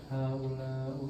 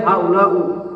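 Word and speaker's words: هؤلاء: Selama tidak boleh haula'u, haula'a tidak boleh. Karena dia mabni.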